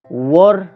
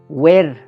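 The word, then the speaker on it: were: वर थिए, वर थिए। यो वरलाई हामीले ब्रिटिस इङ्ग्लिसको उच्चारण गरेका छौँ अहिले। अमेरिकन इङ्ग्लिस अनुसार वेयर नै हुन्छ जुन हामी प्रायःजसो प्रयोग गर्छौँ।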